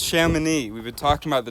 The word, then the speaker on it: Chamonix: It's pronounced Chamonix.